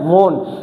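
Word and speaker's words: mourn: पहला इसका सिनोनिम्स है मौन। ये मोरन नहीं है, यू आर एन, आर इसमें क्या होता है, साइलेंट होता है।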